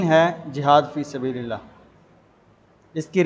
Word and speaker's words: جہاد: غلط تلفظ نہ ہو۔ جیسا کہ لفظ جہاد ہوتا ہے، اس کو جہاد نہیں پڑھا جاتا، یعنی جس طرح جہاز کا جیم ہوتا ہے اس کے اوپر زبر، اسی طرح اس کو